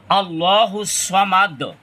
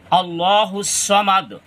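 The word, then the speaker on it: اللَّهُ الصَّمَدُ: attach হবে মাদ এইখানে দালের উপরে সাকিন ধরে পড়তে হয় শেষ এজন্য এখানে কলকলা উচ্চারিত হবে কলকলা উচ্চারণ হবে আল্লাহুস সামাদ আল্লাহুস সামাদ আল্লাহুস সামাদ ভুল করে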